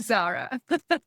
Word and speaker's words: Tzara: but we're good with Zara. People, for those who aren't on YouTube hearing this, your name is spelled TZ A R A. And so that's why a dyslexic person may call you Tarzan, but oh my word.